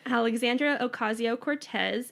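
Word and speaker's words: Alexandria Ocasio-Cortez: just told me how to say her name Alexandra Ocasio Cortez and how one she's a badass yes but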